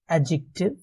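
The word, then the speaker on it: adjective: जैसे कि noun, pronoun, एडजेक्टिव, verb, adverb, conjunction, preposition and interjection. ध्यान रहे, यहाँ पे मैंने एडजेक्टिव नहीं कहा, मैंने एडजेक्टिव कहा। डी साइलेंट रहेगा।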